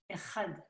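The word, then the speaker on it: אחד: Echad. Ah, Echad. Echad. Echad. Si vous dites Echad, c'est comme si c'était la lettre E, quoi. Donc ici, il faut bien prononcer le guttural.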